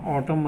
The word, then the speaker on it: autumn: AUTUMN है ना, यहाँ पे देखिए क्या साइलेंट रहा, ऑटम मतलब पतझड़।